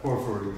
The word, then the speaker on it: Porphyry: Porphyry. I don't know how you say it, if I'm pronouncing it correctly, but... Porphyry, yeah. Porphyry, yeah. In English, I guess.